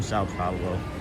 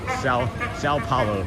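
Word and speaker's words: São Paulo: From Sao Pablo, Brazil. I never say it right. Sao Paulo, Brazil. Right. That's the way you say it properly.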